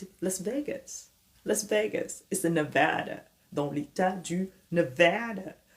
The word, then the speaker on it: Nevada: Las Vegas, c'est Nevada, dans l'état du Nevada. Nevada, c'est un peu la même prononciation que banana, Nevada, Nebraska, ok?